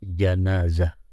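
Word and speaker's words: جنازة: Bil Fathi starting with janaiz is the plural of the pronunciation of janazah Bil Fathi with fathah Jim ja corpse Ismun Lil mayyit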